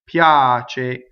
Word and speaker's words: piace: So let's talk about this semivowel because we've had quite a few in this aria and I didn't talk about it. So if you look in IP, I think it's written as a it's written as a J, but we're told to do it as a Y, right?